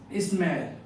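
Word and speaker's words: smile: रहा है अपने को, ई साइलेंट है। तो यहाँ पर इसका जो आई का जो प्रोनाउंसिएशन होगा वो होगा ए आई।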